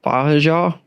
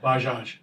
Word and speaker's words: Bajaj: How do you say that word? Baja? Baja. Baja? Baja. Bajaj. Baja. Baja. They don't really they don't really say the J's that well.